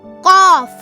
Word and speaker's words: ق: Hi, my name is Qaf. Qaf. Qaf. Qaf. You can spell Qaf in English as Q-A-A-F. Qaf. It sounds like the English alphabet Q with the heavy pronunciation.